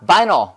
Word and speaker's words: vinyl: 그 다음에 비닐 아니라 vinyl. Vinyl. Vinyl. 자, I니까 뭐라고 발음해야 돼요? I로 발음해야죠.